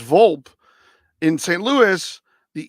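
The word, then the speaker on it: Volpe: same last name as this guy and it's pronounced a little different so all right it's vulp yes it's vulp in St Louis the E is an i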